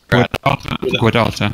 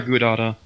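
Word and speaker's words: Gudauta: We are going to Guadata. We're going directly there. Is it Guadata or Gudata? Gudata. Like good Gouda cheese, like Gudata cheese? Yeah. Gudata. Actually, I believe the correct pronunciation is Huata.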